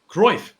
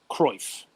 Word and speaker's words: Cruyff: constantly reevaluating i'm going to say this dude's name wrong so i won't even try it c-r-u-y-f-f groif croise yep so before you're before uh cruyff it